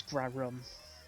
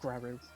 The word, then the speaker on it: Grarrum: Oh, and by the way, it's Grarrum, not Grarrum.